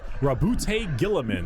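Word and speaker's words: Roboute Guilliman: Primarch Rabute Gilliman. That's how it's said.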